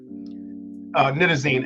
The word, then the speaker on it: nitazene: And pronounce it for us again. Nitazene, Nitazine, Nitazene.